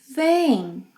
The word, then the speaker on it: veem: Vocês, eles, elas veem, nasal sound. Veem.